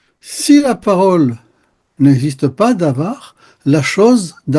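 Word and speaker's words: דבר: Il y a un mot en hébreu qui se prononce davar.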